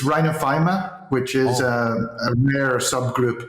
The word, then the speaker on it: rhinophyma: um what is uh I'm sure I haven't pronounced that correctly Rhino rhinophenophomore what is it but it's rhinophyma which is a rare subgroup of rosacea which